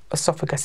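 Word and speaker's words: oesophagus: It's funny spelling, funny word to look at, but it's, I think I've pronounced it correctly, esophagus. It's spelt O-E-S-O-P-H-A-G-U-S.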